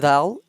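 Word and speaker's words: ذال: yadh, yadh, it is dhal pronounced top of our tongue and uh, edges of our upper front teeth.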